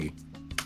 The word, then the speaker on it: Seigi: Seigi? Is that how it's pronounced, or is it? That's perfect. Yeah. Awesome. Seigi.